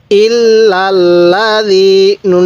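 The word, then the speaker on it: الذين: এক আলিফ টানতে হবে তাহলে ইল্লাজি নুন জবর না ইল্লাজিনা কিভাবে শিখবো ইল্লাজিনা এরকম ভাবে পড়বো যদি আপনি এরকম ভাবে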